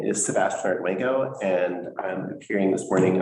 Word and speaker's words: Arduengo: Arduengo. Arduengo. It is pronounced exactly how it's spelled.